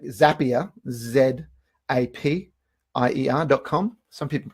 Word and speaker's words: Zapier: with tools like zapier z AP i ER comm some people pronounce it as AP a-- pretty sure it's zapier because the things are called zaps anyway in zapier there